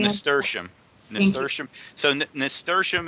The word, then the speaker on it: nasturtium: They want to know if they can plant seeds for I'm sorry, I don't know how to pronounce it. Is That's Nasteria? nasturtium.